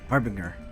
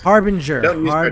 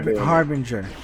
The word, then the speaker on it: Harbinger: Harbbringer. That's all right. You You get mad at me when I mispronounce on purpose. Harbinger. Harbinger.